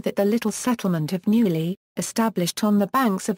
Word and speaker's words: Neuilly: The name spelled Neuilly after the French Academy standard of pronunciation of the ill as a y.